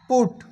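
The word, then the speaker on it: put: দিই তাহলে বুঝতে পারবা দেখো যেমন পি ইউ টি পুট বি ইউ টি বাট এ দুটো শব্দের মিল আছে একই পি ইউ টি পুট বি ইউ টি বাট দেখুন প্রোনাউন্সিয়েশন কিন্তু আলাদা উচ্চারণ কিন্তু আলাদা শব্দ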